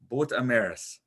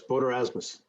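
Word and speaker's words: Boet Erasmus: It's the Battle of Boot Amaris. Close, Boot Erasmus. Boot Erasmus. Boot is Boot.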